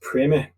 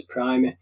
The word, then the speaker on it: Primer: So okay, basically, in American English, it seems to be pronounced Primer. Uh-huh. So perhaps that's why. But in British English, it's always going to be referred to as Primer.